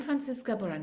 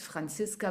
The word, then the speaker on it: Franziska: to get there I'm francisa banisa I don't know why I have to pronounce pronounce my name in English actually it's Francisca brand bisa because I'm German I'm living in Spain